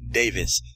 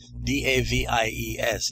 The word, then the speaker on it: Davies: And the writer of the article is Lizzie Davies. The last name is spelt D-A-V-I-E-S, Lizzie Davies.